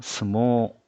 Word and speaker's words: 相撲: 자, 에 모음 뒤에 에단음 뒤에 이라는 글자가 와도 장음이고 相撲 자, 스모우라고 적혀 있는데 실제 발음은 相撲 네, 스모예요.